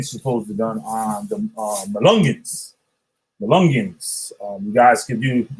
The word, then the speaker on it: Melungeons: It's spelled MELUNGEONS. Malungans. If you be on my ass and shit, I never know when you trying to be funny and shit. Yep, Malungans.